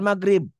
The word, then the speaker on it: Maghrib: Itu semua tuh umumnya orang Jawa tuh maghrib padahal maghrib.